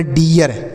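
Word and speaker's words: dear: तो इसे हो गया डियर। इसे डीर नहीं पढ़ेंगे, जैसे हमने पीछे बताया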